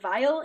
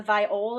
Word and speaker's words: viol: It only has a vial, which I realize I pronounce it vial. It's a viol. It's a like small type. Yeah, it's not a viola. It's viol unless they misspelled it in the book.